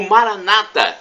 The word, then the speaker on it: Maranata: e tocamos Maranatha como dizemos nosso católicos com a tônica na última sílaba ou Maranata uma tônica na penúltima sílaba como como dizem os nossos irmãos separados os protestantes ou evangélicos não importa a pronúncia